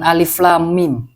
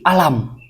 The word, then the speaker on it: alif lam mim: Yang dia baca bukan alif lam mim, tapi alam. Kok bisa alam? S3 bacanya alam, Ustadz.